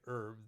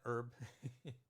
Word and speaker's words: herb: Australia, they would always, whenever I'd say herb, they'd say, excuse me, do you mean herb? So then I go, no, I meant herb. So we have the silent H here.